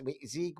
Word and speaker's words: Zweig: It was, I am calling from Zweig White, it's Zieg White, And anyway, he's like, what are you guys doing?